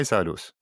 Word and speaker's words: Saulius: will talk about Lithuania, and my guest is Saulius, a Lithuanian expert with more than 20 years of experience in banking and finance, and including helping companies to enter Lithuanian market. Hi, Saulius.